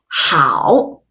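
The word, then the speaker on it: 好: a try late great the second group will have au again the white of her mouth to pronounce ow and a good in Chinese is how how it's your turn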